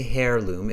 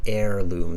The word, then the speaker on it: heirloom: heirloom we don't say hair loom it's an air heirloom the h-e-i-r is pronounced as air like air heirloom okay